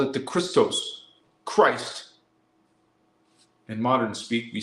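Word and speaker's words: Krys: be a k r i it's like still pronounced the same way it's the sound that says Christ Christ it could be with a k or a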